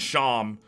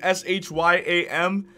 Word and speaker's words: Shyam: My friend Sham spelled his name S-H-Y-A-M, and everyone pronounces Shyam. But then one teacher pronounced it right, and Sham lost his mind.